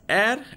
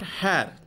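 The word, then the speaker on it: heir: Here, the pronunciation is air and not hair. Had the pronunciation been hair, then we will put article A before it. But the pronunciation is air and not hair. H remains silent over here.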